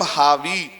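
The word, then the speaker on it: Harvey: लोग क्या बोलते हैं विलियम हार्वे या बिलियन हावी आर को साइलेंट करेंगे तो विलियम हावी कौन है इटली में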